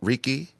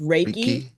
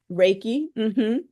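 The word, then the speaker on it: Reiki: but does someone ask for is it called Ricky it's pronounced raiki raiki r e i k i it's a so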